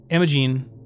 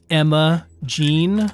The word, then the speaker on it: Imogene: here too um imogene i didn't realize that imogene is spelled like i think it's i-m-o-g-e-n-e i thought it was like emma gene like you'd call like you'd say some like you'd say norma jean or billie jean is one of those